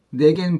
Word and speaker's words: 내겐: 근데 이 내와 내가 옛날에는 발음 구별이 됐다고 하는데 지금의 한국인의 회화에서는 발음 구별이 전혀 안 되거든요.